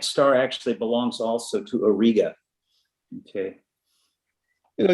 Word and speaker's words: Auriga: on the boundary between taurus and aurora or not aurora auriga or riga that's i say auriga yeah yeah i think chess says auriga right chuck yeah you'll